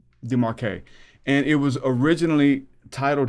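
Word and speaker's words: Desmarquet: It was written by Michel, how do you pronounce the last name? Demarque.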